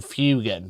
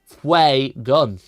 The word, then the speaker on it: Fuegan: him Fue, but then I started calling him Fugan because that's what other people called him. But it's actually pronounced Fue gun.